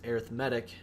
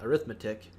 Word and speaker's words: arithmetic: the word is pronounced arithmetic not arithmetic because arithmetic is a noun and arithmetic is an adjective describing the sequence so different pronunciation an